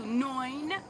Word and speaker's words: neun: You gotta pronounce that U, neun. Because if you don't, it's going to sound like you're saying 9. It's going to sound like you're saying no.